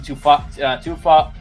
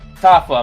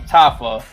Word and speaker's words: Tafa: How do you say his last name? Justin Tufa? I forgot to say his name. Tufayo? He's a Samoan guy. Tafa, my bad. I don't know where you get two from.